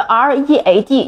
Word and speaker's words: read: 在此处我们的 READ 要读作 read，是 read 的过去式。